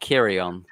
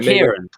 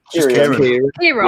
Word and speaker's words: Kieran: He said it's not Kirion. Yeah, so it's how Richard pronounces Kieran. Like, I think in the podcast with Amy. Kieran? Kieran. Yeah, he's just a normal Kieran.